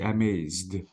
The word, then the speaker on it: amazed: guys you're still writing you're still saying the e sound if the verb is in the simple past please the e sound should not be pronounced you have to say amazed okay so okay exactly it is amazed but not amazed okay can you read